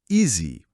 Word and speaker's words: easy: Um adjetivo bem útil, a pronúncia easy. A S Y easy easy. O som do s aqui é mais para um Z, sabe? E o IA no começo funciona como um i longo, um adjetivo super comum